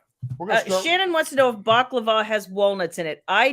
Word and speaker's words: baklava: I'll tell you and Joyce says that I pronounced it right so baklava Scott bakulova no baklava whatever all right let's see